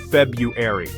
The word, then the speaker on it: February: February, the second month, often mispronounced by swapping R sounds. February.